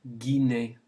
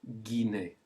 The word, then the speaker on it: Guinée: And then we have the country La Guinée. Say it, La Guinée. Notice the G-U to get the G sound with the E.